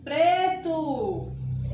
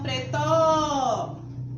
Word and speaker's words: preto: Preto. Preto. A sílaba tônica é pre. E não pretó. Viu? Se eu disser pretó, estou pronunciando com errado. Eu pronuncio preto. A sílaba tônica é pre.